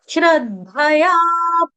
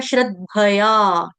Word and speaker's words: श्रद्धया: में श्रद्धा है ये श्रद्धा नहीं है ये है श्रद्धया श्रद्धया श्रद्धया द जो है